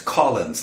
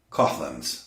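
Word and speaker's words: Coughlan's: Someone pointed out to me that the name of the venue in question is Collins Live, not Coughlin's Live. We would say Coughlin's, you say Collins.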